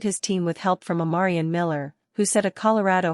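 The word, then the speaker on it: Omarion: Deion Sanders corrected several reporters and provided the correct pronunciation of Miller's name, adding, "Everybody, this is my man, Amarian.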